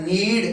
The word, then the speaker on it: knead: के साइलेंट है, नीड, KNEAD, नीड the floor.